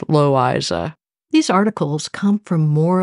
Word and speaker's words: Loisa: The reason we think it's pronounced that way is because my grandmother's middle name was L-O-I-S-A, according to my father, always pronounced Loiza.